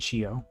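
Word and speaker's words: chiot: two french words so shio it's not spelled like this it's c-h-i-o-t and it's the french word for puppy and so she n is dog and she-o is puppy and as you can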